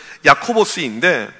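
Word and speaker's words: Ἰάκωβος: 헬라어로 발음하게 되면 야코보스인데 이 단어가 어디서 왔냐면 구약 히브리어 야곱에서 온 단어입니다.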